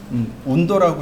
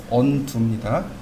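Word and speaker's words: undo: 그런데 여기 언두라는 개념이 있죠. 운도라고 읽으시면 안 돼요. 네, 운도는 가수 이름이고 언두입니다.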